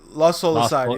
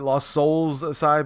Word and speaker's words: Lost Soul Aside: Lost Soul Aside. Yeah, a lot a lot a lot of retards on Twitter call it Lost Souls Aside, but it's not it's not plural, right? Um Lost Soul Aside, Shinobi, Art of Vengeance,